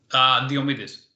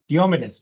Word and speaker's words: Diomedes: Diomedes. Diomedes, just like it's spelled.